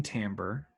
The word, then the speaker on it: timbre: The oboe definitely has a interesting timbre, which is maybe the only word I can think of that you pronounce in I, like an A.